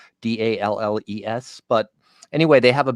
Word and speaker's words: The Dalles: I believe the city's name is pronounced the Dalles, Dalles.